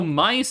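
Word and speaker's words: mais: Which also, mice is how you pronounce, like, corn in Norwegian.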